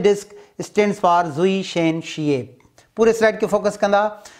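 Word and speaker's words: Zwischenscheibe: Haan z line jo full form hite padanda, hi ikro German word a zui shen shiep. What is pronunciation? Zui shen shiep, meaning between disc.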